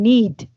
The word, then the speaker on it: knead: is and double e d need meet and need yeah the first word k n e d